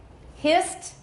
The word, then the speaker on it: hissed: Hissed, same. It's voiceless, we add a T sound, no extra syllable.